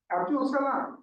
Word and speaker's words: Abdul Salam: Abdul Salam, S-A-L-A-A-M, Yes.